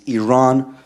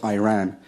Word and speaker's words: Iran: our country's name wrong our country is named Iran not Iran are you okay to